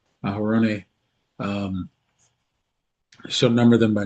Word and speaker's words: Aaron: Thou and Aaron, or as we modernly call, Aaron, Aaron, um, shall number them by name, by their armies.